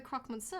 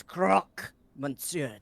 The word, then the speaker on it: Croque Monsieur: You are the croque monsieur, are you not? That's croc, monsieur, to you. Duh. People always put the pronunciation wrong.